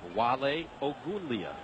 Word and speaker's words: Wale Ogunleye: But I think you did a nice job pronouncing his name. Not bad, right? Wale Ogunleye.